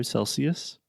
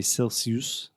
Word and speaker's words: Celsius: students I've heard say Celsius Celsius but a Celsius schwa sound at the end cool and how do